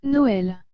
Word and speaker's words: Noël: viens d'écrire au tableau et le mot noël et sans le tréma serait noël dois vous avouer sincèrement que pour ce mot la différence avec ou sans tréma n'est pas vraiment grande elle est à peine perceptible vous la sentirez plus